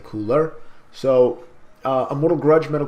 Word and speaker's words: cooler: metal cooler steely hatred I do say cooler by the way I do not say Cunha I'm not Japanese Japanese typically will pronounce it Kouta I will say cooler so a little grudge